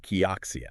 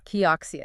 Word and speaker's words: Kioxia: I always struggle to pronounce that. Kioia. Kioxia.